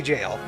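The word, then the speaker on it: gaol: visit Yonder gaale The Gil baby jail I know it's pronounced jail but then that's less funny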